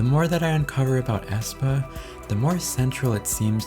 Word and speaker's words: aespa: First, AE, or as it's pronounced I, stands for avatar times experience, and when you combine AE with the word aspect, it makes Aespa.